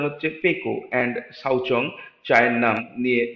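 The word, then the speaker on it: Pekoe: কিছুদিন চা ব্যবসায়ীও হয়েছিল কিন্তু খুব তাড়াতাড়ি এটার উচ্চারণ হচ্ছে পেকো এন্ড সাউচং চায়ের নাম নিয়ে বিরক্ত হয়ে গেছিল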